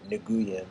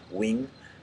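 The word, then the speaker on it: Nguyen: Wing I think his last name you might pronounce it nigan but it's actually the way they say his wing um so he made a video called 99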